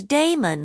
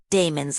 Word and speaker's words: Damon: authors are agreed was Damon whose name they say ought to be pronounced with the first syllable short though Aristotle tells us